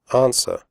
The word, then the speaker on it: answer: close the door close answer the WC is silent answer do not say ants